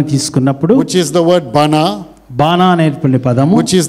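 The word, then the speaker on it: בנה: Is the word bana.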